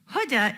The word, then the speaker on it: Huda: Huda is pronounced like the hood of a car.